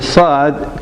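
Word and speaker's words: صاد: Now again, there is no letter by itself, but I can tell you Saad pronounces as seen in sunny.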